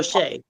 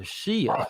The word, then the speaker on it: Shay: There you go, Shay. Shay, or as I mispronounced her name the first time, I called her Shia.